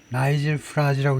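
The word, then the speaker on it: Farage: 29년까지는 while the rise of the population leader fr has led to breathless predictions 나이젤 프라즈입니다. 나이젤 나이젤 프라즈라고 읽는데이 사람이 파리스 리더입니다.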